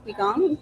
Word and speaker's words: Qigong: She teaches yoga, qigong. Did I pronounce that right? Qigong.